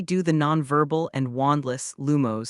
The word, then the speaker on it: Lumos: The incantation is pronounced Lumos, and its wand movement is a rising and falling in a circle.